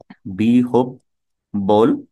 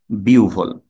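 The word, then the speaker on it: বিহ্বল: উচ্চারণ হচ্ছে জিউভা ঠিক বিহব্ব হচ্ছে ভুল বিহব বল এটা হচ্ছে ভুল আর শুদ্ধ উচ্চারণ হচ্ছে বিউভাল বিউভ এভাবে ক্রমান্বয়ে আমরা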